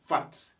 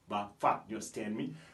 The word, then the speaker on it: fat: après cela nous avons fat et on prononce toujours la dernière lettre en anglais on dit pas fa bah fat fat ça veut dire